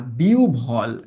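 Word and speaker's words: বিহ্বল: এটার উচ্চারণ কি জানো এটার উচ্চারণ কিন্তু বিভব বল না বিউল হ্যা বিউভল হইয়া কান্ড কান্ড ভালোমন্দ জ্ঞান হারাইয়া না ফেলা।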